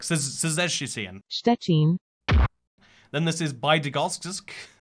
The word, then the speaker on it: Bydgoszcz: Then this is Bydgoszcz. Bydgoszcz. Like SZ, CZ. It's four hard pronounced syllables in a row right there.